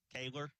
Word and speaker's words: Kaylor: Is it pronounced Kaylor or Coler, bud? Kaylor, that's what they said.